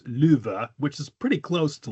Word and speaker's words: Lufu: No, it's pronounced luva. Lufu. The F is pronounced like a V. The first U is pronounced long. The second U is pronounced short. So it's luva, which is pretty close to love, I think, really.